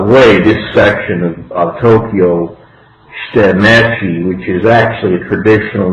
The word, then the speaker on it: Shitamachi: Okay, you gotta get your Japanese pronunciations correct. Yamanote and Shitamachi.